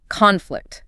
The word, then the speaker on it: conflict: conflict. Stress on con.